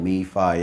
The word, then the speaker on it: MEFIYI: to pronounce that but if you think fraternity it's called me fie I could think fraternity